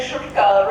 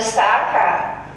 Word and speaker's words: Sarkar: I think it's always the first time in my life anybody has ever pronounced my name correctly. You know, in saying Shurkar rather than Sarkar.